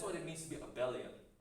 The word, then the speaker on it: abelian: People pronounce it abelian, but I pronounce it abelian.